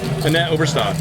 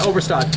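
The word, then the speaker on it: Annette Obrestad: like, I want to say her name right, Annette Overstead? Annette Overstad. Yeah, Overstad, where she played a tournament online and Sorry.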